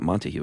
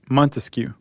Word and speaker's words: Montesquieu: It's not Montague, is it? Montesquieu. Montesquieu? Uh-huh. And they're kind of skeptics